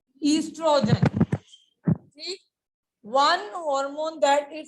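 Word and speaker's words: oestrogen: The spelling of the estrogen starts from the O, but the pronunciation is estrogen.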